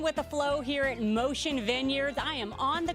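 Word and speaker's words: Moshin: Yeah, but not spelled like you think it's spelled. It's M-O-S-H-I-N.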